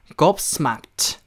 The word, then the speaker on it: gobsmacked: 자, 곱이라고 하고요. 곱창할 때 곱. 네, 그 곱창이 곱하고 스마크트. 스마크트라고 해야 돼요. 츠. 아시겠죠? 크츠. 아시겠죠? 곱스마크트. 곱스마크트라고 이야기를 해보시면 되겠습니다.